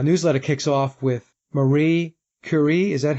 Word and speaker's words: Curie: And the newsletter kicks off with Marie Curie. Is that how we pronounce her name?